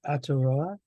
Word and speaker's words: Aotearoa: in which everyone was a co-parent, and it happened in, let me see if I can say it correctly, Aotearoa.